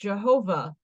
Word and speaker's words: Jehovah: The Tetragrammaton, or the 4-letter name of God, written thus, is pronounced Jehovah.